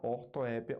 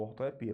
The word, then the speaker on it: ortoépia: fonema direito ela tem um erro quanto à ortoépia ou ortoepia porque a sílaba tônica se Manteve a mesma tá ok